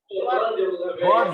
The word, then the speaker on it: born: Born ya, bukan brown ya. Tadi kamu bacanya brown ya.